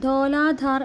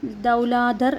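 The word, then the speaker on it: Dhauladhar: ക്വസ്റ്റ്യനിൽ ധോലാധാർ എന്നാണ് പറയുന്നത്. ധോലാധറിൻ്റെ മറ്റൊരു ഉച്ചാരണമാണ് ദൗലാധർ എന്ന് പറയുന്നത്.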